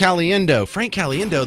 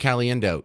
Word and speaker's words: Caliendo: things he said Frank Caliendo yeah you spell it C alien do and I have always